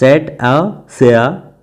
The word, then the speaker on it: Cetacea: They are member of the Cetacea, pronounced Cetacea family, which also contains whales, porpoise.